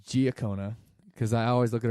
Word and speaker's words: Giacona: back I'm sitting here with and it's G okona because I always look at her name and